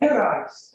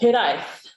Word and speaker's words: Hiraezh: Hiraezh. Without on the R. I'm not very good at rolling my R's, but thank you very much, Hiraezh. Hiraezh. So in Breton, it's Hiraezh. There's more of a Z, and it's very similar to Cornish.